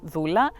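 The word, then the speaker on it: δούλα: Living Word and it's it it is uh pronounced Zula and it means slave and it's um considered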